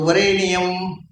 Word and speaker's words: ವರೇಣ್ಯಂ: ತತ್ ಸವಿತುರು ವರೇಣಿಯಂ, ನ್ಯಂ ಅಲ್ಲ, ನಿಯಂ, 8 ಆಯ್ತಾ? ಯಾಕೆಂದ್ರೆ ಎರಲವಾಹ ಕ್ಷೈಪ್ರಾನ್ನು ವ್ಯೂಹೇತ ಅಂತ. ಕ್ಷೈಪ್ರ ಅಕ್ಷರಗಳನ್ನು ಬಿಡಿಸಿ ಹೇಳು, ಎಲ್ಲಿ ಅಗತ್ಯ ಉಂಟೋ ಅಲ್ಲಿ, ಎಲ್ಲ ಕಡೆ ಅಲ್ಲ. ಯಾಕೆಂದ್ರೆ ವರೇಣ್ಯಂ ಅನ್ನುವಲ್ಲಿ ವರೇಣ್ಯಂ ಹೇಳಿ, ಭರ್ಗೋ ದೇವಸ್ಯ ಅನ್ನುವಲ್ಲಿ ದೇವಸಿಯ ಹೇಳಿಬಿಡಿ.